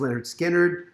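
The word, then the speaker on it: Lynyrd Skynyrd: oasis definitely maybe 94 leonard skinner pronounced leonard skinner um 73 uh police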